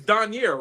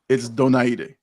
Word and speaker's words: Donaire: I if I'm not, it's Donier, right? You're right. That's the Americanized version. Donier, you're the closest. Okay. But it's Donaire, if you really want to say it.